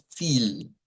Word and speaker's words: viel: Entonces, esto va a sonar como fil, fil. Hay que hacer esa I como sostenida.